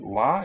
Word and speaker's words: は: Getsu wa is spelled ha.